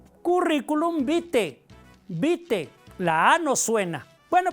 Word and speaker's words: vitae: cuando decimos currículum vitae se escribe vitae pero la a no suena no decimos currículum vitae Cómo se pronuncia currículum bite bite la a no suena